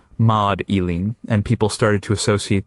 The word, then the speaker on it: Magdalene: In medieval England, her name was not pronounced with a hard. It was pronounced more like Maud Eileen, and people started to